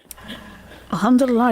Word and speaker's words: Alhamdulillah: Alhamdulillah.